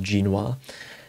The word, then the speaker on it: Genoa: shy lips protecting in genoa um actually it's pronounced ginoir then maybe dips there